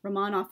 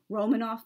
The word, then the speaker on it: Romanov: if you're wondering um rahmanoff is the proper russian pronunciation i know many english-speaking people say i'm roman off but that's actually not